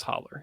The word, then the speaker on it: hollow: it's basically it's Hollow it's Hollow pronounced as holler yeah all right that